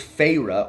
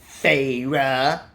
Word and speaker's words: Feyre: If I was Feyre, or Feyre, because every single time someone said her name